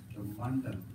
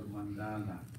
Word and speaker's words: mandala: use the bandala actually the actual pronunciation of the is actually Mand actually Mand you know we since we you know adding a to the the actual word that it becomes a mandala right but if if